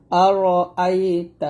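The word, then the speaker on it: أرأيت: তা আর র আইতা এখানে আমরা যে ফুলটা করি আর রা বলি রা র বলতে হবে আর আইতা এরকম এই তাকে ধরবে এই লামকে তাহলে হবে আর আই ততাল তা লাম জবর তাল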